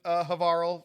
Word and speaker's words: Havarl: I did all the quests in Havarl, Rhymes with Carl.